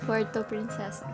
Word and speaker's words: Puerto Princesa: Yeah, Puerto Princesa.